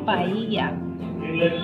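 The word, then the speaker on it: paella: So as far as I know, double L pronounces Y. So it should be paia.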